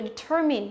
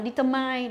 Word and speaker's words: determine: Chúng ta có các động từ là determine. Phương án A là determine. Cái từ này rất hay đọc sai, trọng âm nhá. Chúng ta hay đọc là determine đúng không? Determine, nhớ chưa?